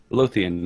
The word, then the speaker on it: Lothian: to do now is you want to click Lothain. Is that how you pronounce it? Well, Lothain. It's the capital of the rebellion. The big red shield with the black stripes, black bars. Lothian, yeah.